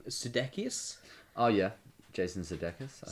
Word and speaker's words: Sudeikis: How do you pronounce this guy's name? Sudeikis.